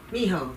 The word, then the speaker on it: Mijo: i'm saying it incorrectly pronounce your name for me again mijo miho that's right because you forgot to